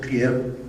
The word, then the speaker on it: trier: triaje realmente viene de una palabra francesa que se pronuncia trier, no soy muy bien hablando francés, que significa escoger o seleccionar.